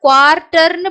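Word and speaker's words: quarter: குஸ் quiz quiz குவார்ட்டர் குவார்ட்டர் நீங்க குவார்ட்டர்னு படிக்கக்கூடாது ஆருக்கு வந்து பாத்தீங்கன்னா நம்ம தமிழ்ல ர்ன்ற உச்சரிப்பு கொடுப்போம் இல்லையா சோ அந்த ர்ன்ற உச்சரிப்பு மாதிரி இங்கிலீஷ்ல இருக்கக்கூடிய ஆருக்கு நீங்க அழுத்தி படிக்கக்கூடாது அத சாஃப்டா படிக்கணும் ர் ர் அப்படின்னு படிக்கணும் அப்போ குவார்ட்டர் குவார்ட்டர் அந்த சென்டர்ல வரக்கூடிய இந்த ஆருக்கு வந்து குவார்ட்டர் அப்படின்னு ர் டர்னு படிக்கக்கூடாது குவார்ட்டர் குவார்ட்டர் சோ இந்த லாஸ்ட்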